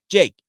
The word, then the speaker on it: Jakob: back and said, "Hey, Jake, your name's Jake. His name is Jakob. Well, it's German, obviously German pronunciation of Jacob. So why are we not calling you Jak, a.k.a. Jake?"